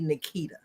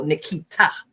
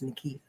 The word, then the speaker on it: Nikita: They still tend to put the pronunciation on the wrong syllable of my name, that they go Nikita.